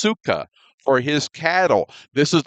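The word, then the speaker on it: סוכה: This word is pronounced sukkah for his cattle.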